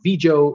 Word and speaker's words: Vigo: Nonetheless, the ship began to take on water and immediately was diverted to Vigo Spain. Vigo Spain. V-I-G-O is how you spell it.